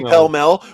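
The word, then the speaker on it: Pall Mall: if you're if I'm buying a pack of Paul mul cigarettes like I say pel Mel which is the correct pronunciation they're like what and I'm like Paul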